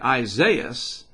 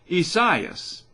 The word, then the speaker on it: Isaias: finally figured it out instead of just calling it isaiah's it's kind of the portuguese version isaias so instead of isaias